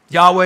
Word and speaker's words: Yahweh: than that in Hebrew Yahweh is more accurate pronunciation of What's called the tetragramaton the tetragramaton that is